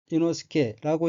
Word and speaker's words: 伊之助: 셋째 줄 첫 번째 한자는 한국어로 탄치랑이고 일본어로는 탄지로라고 읽으며 탄지로는 등장 인물 중 한 사람입니다. 다음 환자는 한국어로 이지조이고 일본어로는 이노스케라고 읽으며 이노스케 또 등장 인물 중에 한 사람입니다.